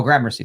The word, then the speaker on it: Gramercy: do I don't know or Mercury Gramercy oh Gramercy thank you thank you uh thank you um it's terrible he assumed by someone claimed he installed the video camera in 1990.